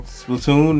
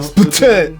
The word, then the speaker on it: Splatoon: And Splatoon, no Splatoon. You don't want to shoot ink everywhere. And that's exactly why I say it like Splatoon, because I feel like that's how you're supposed to say it.